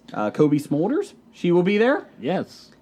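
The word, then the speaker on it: Cobie Smulders: Kobe Smulders, she will be there.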